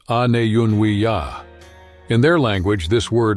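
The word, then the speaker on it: Aniyunwiya: people today called Cherokee refer to themselves as anunia, pronounced an yuni ya.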